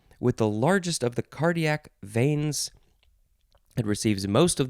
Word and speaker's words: cardiac: cardiac cardiac cardiac veins i wanted to add a syllable there cardiatic no it's cardiac veins receives most of the